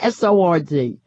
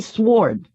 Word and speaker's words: sword: man with sword sward nobody knows how to pronounce that word I don't does that W but you're not supposed to pronounce it to me you pronounce that sword SOR D but I hear other people who actually say sworn but I never did in my life alright so the wife